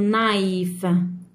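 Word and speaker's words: knife: عندي نايف، الكي كي تجي في اول كلمه متبوعه بالان الكي لا تنطق ترجع سايلنت، نقول نايف.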